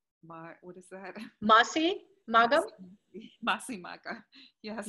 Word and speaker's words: Masi Magham: I can't pronounce it. What is that? Masi? Magham? Masi Maga. Yes. Masi Maga.